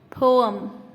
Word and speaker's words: poem: But remember that it has 2 syllables, po and poem.